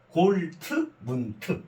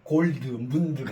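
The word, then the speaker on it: Goldmund: 골트 이렇게 해요 그래서요 이게 골 드를 트로 발음해요 골트 문트 골드 문드 아니고 골드문트 예 그래요 그에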